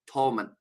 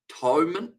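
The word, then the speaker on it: Thomond: And don't pronounce the H.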